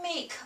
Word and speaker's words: 吗: this character we can make up another complicated one which is next one ma this one has no tone which means it's a neutral tone you pronounce it light okay and quick ma the left part